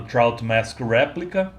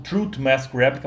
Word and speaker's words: Trout Mask Replica: na época eu falei eu pronunciei o nome do disco como truth mask replica mas na verdade é trout mask replica Eu sempre gosto de